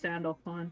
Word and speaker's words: Sandalphon: Pronounced Sandalphon. Sandalphon? I'm gonna kill myself. Sandalphon.